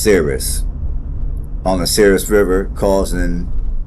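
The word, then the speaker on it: Souris: to pronounce it and it looked like it's pronounced Cirrus on the serious River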